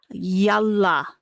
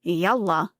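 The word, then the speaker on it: يلا: So when you're saying yalla, you're not saying yalla. It's not pronounced like that.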